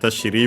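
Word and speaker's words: 尻: Shiri, we mentioned the accent on the last Mora, so yeah, with the honorific prefix it becomes unaccented.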